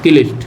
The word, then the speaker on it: क्लिष्ट: ये की का उच्चारण नहीं होगा, ये कलिष्ट का उच्चारण होगा। क आधा का बोलना है आपको और उसके बाद लिस्ट बोलना है, कलिष्ट।